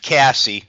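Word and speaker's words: CASSE: about sustainability and add Cassie that's the that's how we pronounced our acronym for Center for the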